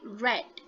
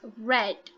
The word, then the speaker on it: read: but we call it red okay uh for read um it's it's spelled the same r e a d but we pronounce it differently so it's pronounced as red okay so let's say